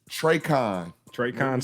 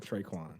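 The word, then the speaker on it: Tre'Quan: Traycon Smith. Traycon Smith. Traycon Smith. Not only y'all got the same hands, you can't pronounce his name right. Traquan.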